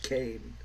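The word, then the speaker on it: Kean: pretty much all uh what's her name Leslie Kane yes it's spelled Keen but it's pronounced Kane uh it makes out that she's the the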